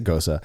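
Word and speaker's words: Gose: It's goza. It's goza. It's Gosa. Yeah, if you want to be correct, you want to sound right, then say Gosa.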